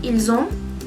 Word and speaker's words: ils ont: En ese caso, no se pronuncia la S, es necesario, bueno, uno puede decir ils ont.